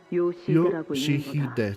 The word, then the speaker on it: Yoshihide: No, that's not how you read those letters. Yoshihide, that's how you say it.